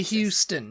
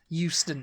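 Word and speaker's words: Euston: you say Houston yeah because you say Houston so it's just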